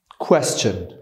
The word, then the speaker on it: question: یک، ما هممون این واژه رو تلفظ میکنیم question. اگر هزار بار هم به تلفظ دیکشنری گوش کنید باز هم همین رو میشنوید. ولی اگر که واژه رو توی دیکشنری سرچ کنی میبینی که اینجا آوای چه داریم، question. بپذیری یا نه تلفظ درست واژه اینه.